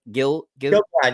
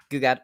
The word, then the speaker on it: Gil-galad: Gil-galad, you had it. Gil-galad, okay.